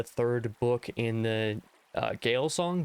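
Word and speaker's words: Gael Song: book in the uh Gail song Jail song I'm not 100% sure which one of those is pronunciation because it's Irish I believe it's Jail song Trilogy by Sha aalis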